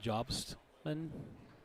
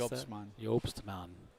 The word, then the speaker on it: Jobman: Sullivan and and Hannah Buffkin versus McDonald and Jobman. Jobman. You want to pronounce? Yopsman.